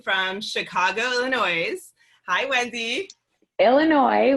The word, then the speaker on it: Illinois: chicago illinois hi wendy illinois with silent s sorry for the record